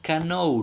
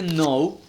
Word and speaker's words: know: Who do you know la k mira aquí en este caso es muda no tiene pronunciación mira no dices Canon No mira que no suena es acá por favor este Now es el verbo saber